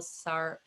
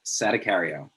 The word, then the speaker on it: Sadacario: Mack Weldon, and Michael Sattercario. I'm going to let you correct me afterward. VP of US Demand at Smart Ad Server. You got to pronounce every syllable. That's the thing. It's Sadacario. Sadacario.